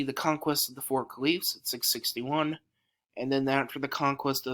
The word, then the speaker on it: caliph: khalif now that word khalif is spelled c-a-l-i-p-h now that sounds work caliph but it's actually but in arabic it's khalif it's kind of like